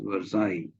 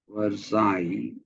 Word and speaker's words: Versailles: must uh understand that it's not pronounced was a whatever after the LL because we were sales or something it is but you simply pronounce that as Versailles Versailles okay uh what comes after the year is the I versai is how you pronounce it so you see